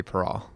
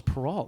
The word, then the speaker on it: Perrault: The key for French is if the letters at the end are in the word careful, then you pronounce them. So the letter T is not, so it'd be Perrault.